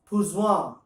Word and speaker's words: Poisson: बट लेट me tell you, this guy was French, तो in French they pronounce things differently. So I saw. if you go to pronounce this, it becomes Pouzouin.